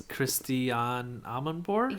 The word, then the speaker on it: Christiane Amanpour: A very famous news anchor, and I'm going to pronounce her name wrong, so Joe, you do it. It's Christiane Amanpour?